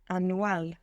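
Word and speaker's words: anual: from nowhere in English and you cut it out because you focus on how it's written an very nice Dent Dental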